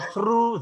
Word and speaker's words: through: Ya, all through the night ya. It rained heavily all through the night. Jadi ini bacanya through ya. Through. Nah, ini bagi orang Indonesia lidah kita sulit banget baca ini ya.